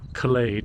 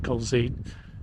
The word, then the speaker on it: Culzean: of the mystery of why it's Culzean and not Culzean. As the people in the house there said, well, it used to be spelt with an L. And somewhere along the line, it started to be spelt with a Z. So they reckon it must be a misspelling or some convenience of the carvers in some inscription or something, and the Z replaced the 2 L's.